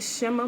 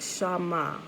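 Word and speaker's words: שָׁמַע: i looked at it and we call it shimmer but it's actually pronounced shama right shama you know so it i guess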